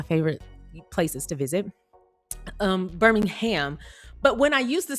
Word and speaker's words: Birmingham: Someone told me I was saying it wrong. Someone said it was supposed to be Birmingham. Now, that is how we say Birmingham, Alabama, Birmingham, which is actually one of my favorite places to visit.